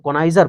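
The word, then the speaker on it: connoisseur: तो इसको पढ़ते हैं कोनाइजर, लेकिन हम पढ़ेंगे कोनोसियोर।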